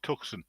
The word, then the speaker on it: Tucson: You pronounce that wrong. It's Tucson.